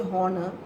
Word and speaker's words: honor: But honor, when you say honor, H is silent.